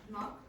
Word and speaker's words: knock: Knock. Again? Knock. Yeah, and what's missing? Or the silent letter? Get it. K, exactly.